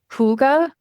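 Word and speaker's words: hygge: years out of Japan, or I think it's pronounced Huga, which is the Danish concept of like taking time, even small amounts of time for yourself and for your own well-being.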